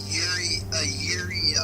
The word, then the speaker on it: yuri: Okay, so Yeah, it's basically a yuri visual novel.